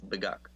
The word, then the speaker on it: Beguk: And also for you guys, it's Beguk, like the chicken.